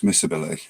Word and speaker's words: miscibility: and the properties called misc ability or miss ability depends on whether you pronounce the C or not in the middle but miss ability of liquids and pronounce it it's miscibility immiscibility yeah I think yeah